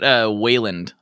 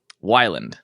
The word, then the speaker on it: Wyland: I get Wayland a lot. I'm like, Wayland. Like, there's no A there, but hey, you know. Oh wait, how do you say it? Wyland.